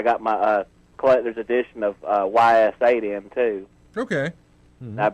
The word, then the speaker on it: Ys: Yeah, it's a role-playing game, or it's pronounced E.